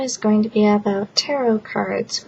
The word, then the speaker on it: tarot: Hi, this video is going to be about tarot cards, which some people call tarot cards, but tarot is the correct pronunciation.